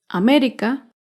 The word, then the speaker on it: América: América se acentúa en la antepenúltima sílaba.